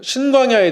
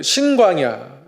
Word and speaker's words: 신광야: 지난주에는 그 신광야, 아래쪽 신광야는 신광야고요. 위에 쪽 신광야는 정확히 발음하면 진광야입니다. 우리말로는 시옷으로밖에 표현할 수가 없겠는데요. 약간의 발음 차이가 있긴 합니다.